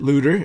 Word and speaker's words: Luder: it myself without uh Brett Luder and he pronounces it looter like uh uh luden's cough drops but you but you